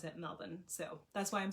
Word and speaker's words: Melbourne: it like that and you may be saying melbourne when you look at it on paper um all of the australians pronounce it melvin so that's why i'm saying it like that